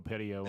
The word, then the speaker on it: Petiot: Because I listened to some guys talk about on it on YouTube, and they dropped the silent T at the end. So Marcel Petiot. I'm going to go Petiot on that.